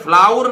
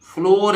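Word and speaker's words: flour: ठीक है इसी तरह फ्लावर नहीं है ये फ्लोर है फ्लोर किसको बोलते हैं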